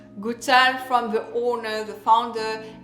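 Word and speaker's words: Goutal: perfume from this brand this is of course gutal so pronounce gutal from the owner the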